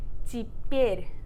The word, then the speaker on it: теперь: Instead of теперь, as it's written, we say теперь. So it's the E.